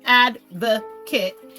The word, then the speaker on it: advocate: noun and a verb as a noun and Advocate pronounced advoc kit is an individual who actively supports and promotes the interests of another person or Enterprise as a verb to Advocate pronounce Advocate is the act of